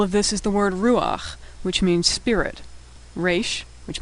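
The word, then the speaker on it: רוח: So you'd think this was pronounced rucha, but when the last letter is chet and it's followed by patach, the patach is pronounced first, ruach.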